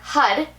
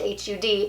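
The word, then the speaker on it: Har: listening to that mantra when you hear hud h-a-r pronounced hud you can do a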